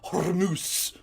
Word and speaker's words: Hormuz: Don't try and pronounce it ethnically. I'm an expert. I pronounce it Hormuz.